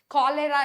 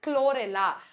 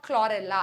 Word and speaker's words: chlorella: cholera இல்ல chlorella. Okay, or chlorella அப்படி pronounce பண்ணுங்க. ஓகே, இப்போ நம்ம கிளாசிஃபிகேஷன் ஆஃப் ஆல்கேக்குள்ள போயிடலாம்.